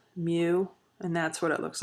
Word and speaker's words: mu: u this is the greek letter mu it's pronounced mu and that's what it looks like in greek